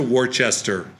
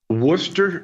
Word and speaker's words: Worcester: I've been to Warchester and I've had Warchester sauce.